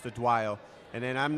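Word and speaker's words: Odunayo: So she's Team Nigeria, 57 kilograms, and it's spelled Adunayo, but it's pronounced Adwayo.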